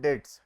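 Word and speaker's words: debts: इन the previous class जहां पे the word B silent B तो साइलेंट है प्रोनाउंस क्या करते हैं डेट्स डी ई टी एस ठीक है तो डेट्स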